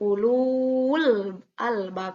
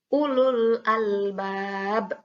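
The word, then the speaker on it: أولو الألباب: Nah, ketika bertemu dengan sukun. Contohnya, pada kalimat ini, ulul albab. Nah, setelah waw sukun, itu ada lam sukun. Ya, ada alif lam, yang dimana alif dan lamnya ini sukun. Sehingga dibacanya tidak seperti mad tabi'i, tidak ulul albab. Nah, tidak seperti itu. Tapi langsung saja karena tidak boleh dibaca panjang sehingga dibacanya ulul albab.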